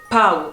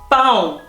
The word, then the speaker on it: pão: Encore un autre mot, ça se dirait pau en français, pau. Non, ça se dit pão, parce que le A tilt et le O, comme je dis, ça fait un.